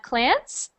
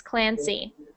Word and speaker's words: Clancy: So when you were reading, I only heard Clance. So just make sure you pronounce those Y's, Clancy.